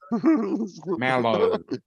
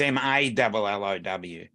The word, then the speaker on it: mallow: Mellow. Mellow. What have you signed into like Netflix? like you're mellow. No, that's MELLOW. It's MALLOW. I see the UNICEF school has worked for Dominic.